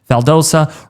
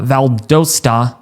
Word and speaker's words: Valdosta: Atlanta might feel like 3°, Macan right around 4, Athens 1°ree, Augusta might feel like 12°, Statesboro around 6°, Albany, Valdosa right around uh Valdosta.